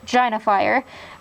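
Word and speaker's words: Jinafire: lot then we have gina fire scarce genifire or as it's properly pronounced gina fire but we call her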